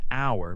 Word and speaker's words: hour: For example, you say an hour because H is silent and the word starts with an O sound.